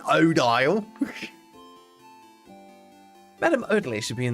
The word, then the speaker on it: Odile: Odile is how it's pronounced. Thank you, Mishtastic. Odile it should be. Like ideal, but Odile.